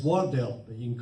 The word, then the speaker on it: Wardell: don't castigate us uh mr wydell it's wardell but you can call